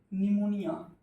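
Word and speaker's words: pneumonia: निमोनिया PHEUMONIA, P silent हो जाता है, PH साइलेंट हो जाता है।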